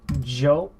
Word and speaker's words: yo: verb to exist Mexico Joe see Joe there's Joe it's it's y ou it's the letter of why not the letter J remember that in Spanish